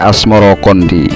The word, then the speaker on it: Asmarakandi: Sebutan itu mengikuti pengucapan lidah Jawa dalam melafalkan Asmarakandi yang kemudian berubah menjadi Asmarokondi. Sejak kecil beliau hidup dalam lingkungan keluarga kerajaan dan ulama.